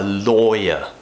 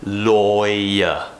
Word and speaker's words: lawyer: very common one a lawyer or a boy okay so we have a really nice sound in there lawyer lawyer we're finishing with the schwa sound because it finishes with